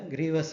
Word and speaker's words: grievous: Second type of hurt is the grievous hurt. Again, we can synonymously use for filling the wound certificate as grievous injury, right? Grievous, while saying, that is the proper pronunciation.